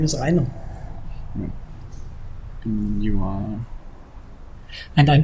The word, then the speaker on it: Rainer: start with your names okay my name is Rhino and you are and I'm Toby okay Toby